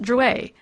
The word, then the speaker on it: Drouet: It's pronounced Druer. Our family was French on my father's side.